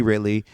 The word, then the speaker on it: Ridley: Daisy Ridley.